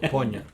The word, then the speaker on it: poignant: G is silent. I think. The G, yeah. Poignant.